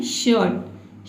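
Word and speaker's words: shirt: इसको क्या पढ़ना है, आपको र प्रोनाउंस करना ही नहीं है, आपको क्या पढ़ना है, शर्ट।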